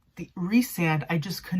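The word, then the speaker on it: Rhysand: because i did notice that i i said rice and instead of re-sand apparently that's how you pronounce his name is resand but for the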